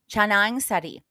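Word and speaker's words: canang sari: pronunciation so let me ask Dr Google uh changar changar is how it's pronounced thank you Google made a flowers rice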